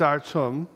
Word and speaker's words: Artem: We've also been pronouncing his name wrong. It's Artem.